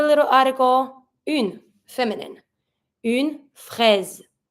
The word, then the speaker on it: fraise: Une fraise. Careful when you pronounce it. Strawberry, fraise, you see that the S here is between two vowels, between the I and the E.